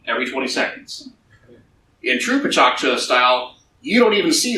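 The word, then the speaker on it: Pecha Kucha: Pichakcha, it's spelled like Picha Kucha, pronounced Pichakcha, is Japanese for chit-chat.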